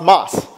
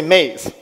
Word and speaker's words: Maes: And it's pronounced MAES. But in English, we say maize.